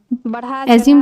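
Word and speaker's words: assume: एज्यूम मीस मान लेना एज्यूम की meaning A double S यू एमई एज्यूम यहां पर जड प्रोनाउंस होगा एज्यूम एज्यूम मींस होता है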